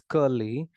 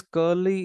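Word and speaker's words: Curley: boss son curly c-u-r-l-e-l-e-y I think it's pronounced as curly the boss son curly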